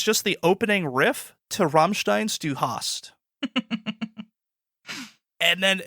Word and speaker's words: Rammstein: With Rammstein. Rammstein. That's how you say it. You uncultured swine.